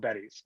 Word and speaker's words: Beddys: Okay, so first off, Beddy's is spelled Beddys, and I had no idea that they sounded similar.